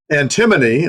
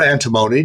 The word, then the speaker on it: antimony: But yeah, this is added to antimony or antimony depending on your choice of pronunciation.